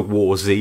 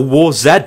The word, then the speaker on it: WarZ: you've been playing the War Z or War Z or War Zed depending on how you want to pronounce it then please comment below